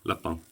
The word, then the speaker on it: Lapin: french which is pronounced that's how it's pronounced in french le pal is a french word they've translated everything into english but they've kept his name the same la pang so i'm sure if